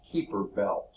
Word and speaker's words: Kuiper belt: from out different ways I think the best renunciation is keeper belt I look squirming enough to me to be hyper belt but I've heard it pronounced keeper belt I've actually heard it